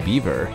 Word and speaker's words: Biewer: three can you guess why the beaver Terrier is pronounced in the same way as the friendly Beaver despite being spelled as Beaver well it's because these little pups are actually of German origin number four the beaver